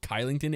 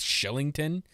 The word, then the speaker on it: Kylington: found out it's not kylington it's shellington the k for whatever reason is pronounced like a c a s h so take that as